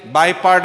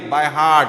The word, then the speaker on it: by heart: By part ಅಂತೀರಿ, by heart. What is that? What is the pronunciation? By heart. ಹೌದಾ? ಸೊ by heart, not by part. ಹೌದಾ? by part ಅಲ್ಲ ಅದು, by heart, memorizing.